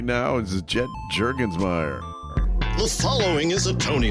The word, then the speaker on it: Jurgensmeyer: I think they pronounce it Jurgensmeyer. Yeah, that's right. In Germany, still to this day.